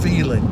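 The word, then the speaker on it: Phelan: funny name that is feeling California it's funny name but it's not spelled like sounds its pH e la and fail in California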